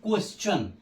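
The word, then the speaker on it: question: पढ़ेंगे जो दो है यदि शब्द में टी के बाद आई ओ एन या यू आर ई आवे तो टी का उच्चारण च होता है ये अक्सर हम लोग प्रयोग भी करते हैं जैसे आप एक बहुत सिंपल क्य यू ई एस टी आई ओ एन क्वेश्चन क्वेश्चन क्वेश्चन पढ़ते हैं ना तो क्वेश्चन प्रश्न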